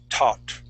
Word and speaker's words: taught: there you go okay so that that a-u-g-h there in the middle okay just like how you said it will have an ah sound okay now make sure